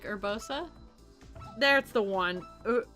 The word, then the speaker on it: Urbosa: Oh, like Urbosa? There's the one. Urubosa. Yeah, Urbosa. In Japanese, she's Urubosa.